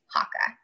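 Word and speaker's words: Haakaa: It's H-A-A-K-A-A, Hakka.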